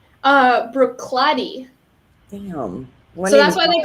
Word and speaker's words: Bruichladdich: Do you want me to pronounce it? Bruichladdich. Bruichladdich.